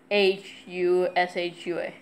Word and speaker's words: Yahushua: YESHUA or YAHUSHUA. Yeah, Yahushua, like Joshua with a Y.